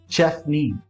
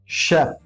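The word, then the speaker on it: chef: इन सारे वर्ड्स में CH का सही प्रोनाउंसिएशन श है। सो आप मेरे साथ रिपीट कर सकते हैं। Listen and repeat after me. The first sound is शेफ, शेफ।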